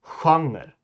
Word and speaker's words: genre: Anyways, genre in Swedish is spelled the exact same way as it is in English, but it's pronounced genre. Genre. And that first letter, that first G, devolves into the SJ sound, which we will get